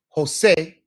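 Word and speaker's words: José: J's are always pronounced as English H's. Por ejemplo, Jose, Javier, Jamón, Julio.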